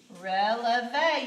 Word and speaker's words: relevé: we're going over elevate releve you know I have to put the accent up there because it has to a sound on the end relevé means to rise